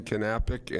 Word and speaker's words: Knappich: His name's Dan Knappich, and I'm pronouncing it correctly, unlike our town moderator. I was not going to say the K, so I would have been wrong. Yes, the K is not silent, and neither is he.